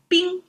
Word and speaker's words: 冰: So yesterday we started with water and today compared with water we have two extra dots there and this make water into ice pronounced as bing.